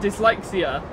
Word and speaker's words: dyslexia: s in it and dyslexia for some reason even though it is pronounced dis d-i-s they put a y in it you've got a Y in it why why would you put a wine dyslexia foreign don't get me